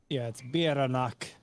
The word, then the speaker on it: Bieranach: So the accent on the first syllable. Or, excuse me, the emphasis on the first syllable. Does anyone want to try to take a stab at pronouncing it? I'm about to get it. And then the double R is rolled. It's Bieranach. Except for it's like a at the end.